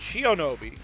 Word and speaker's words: Shionobi: Shinobi. No, not Shinobi, but Shionobi. I always get that name wrong.